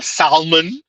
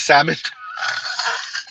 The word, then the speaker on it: salmon: Pronouncing salmon with an L. Salmon instead of salmon.